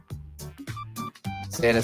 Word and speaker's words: Xana: Xana says, hi there, y'all. I'm Xana. It rhymes with banana.